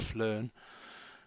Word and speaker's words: PHLEARN: to which is p it's all one word but it's p h learn and they sort of pronounce it flarn where they they just